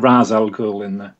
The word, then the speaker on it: Ra's al Ghul: I say Ra's al Ghul because that's how Denny O'Neil says it, the person who created it, but they say it Ra's al Ghul in the film, but I'm going to carry on with my pronunciation. I'm on board for that. That sounds like Raish.